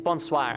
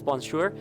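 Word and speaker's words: bonsoir: It mean Oh, actually it's bonswire. I said it wrong. Good thing they said it actually cuz I read it as bonsure. It's bonswire which means good evening.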